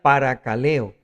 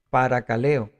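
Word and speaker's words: παρακαλέω: exhortación exhortar o exhortación viene del griego que se pronuncia par caleo par caleo y y nos muestra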